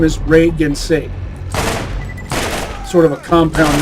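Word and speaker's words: Rei Ginsei: How do you get Regancy out of Reagan say? Regancy is a cool sounding name, but that's not the character's name. His name is Reagan say.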